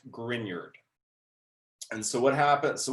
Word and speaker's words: Grignard: and i know it's spelled grignard but it's pronounced grignard and so what happens so what is a